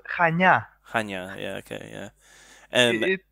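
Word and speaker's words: Chania: think it's just pronounced like how do you pronounce it yeah yeah it's kind of tricky it's called chanya yeah okay yeah and it's difficult okay i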